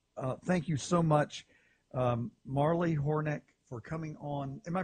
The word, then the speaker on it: Hornik: Marley Hornik, for coming on. Am I pronouncing your last name correctly?